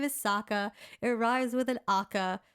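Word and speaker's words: Sokka: that he he's literally like my name is saka it arrives with an akka so like why did they mispronounce his name in the movie that muslapi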